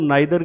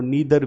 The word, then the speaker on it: neither: के बारे में, कि आइदर को हम ईदर भी प्रोनाउंस करते हैं और नाइदर को नीदर भी बोला जाता है। तो आइदर ईदर, नाइदर नीदर, दोनों ही प्रोनाउंसिएशन जो है वो सही है।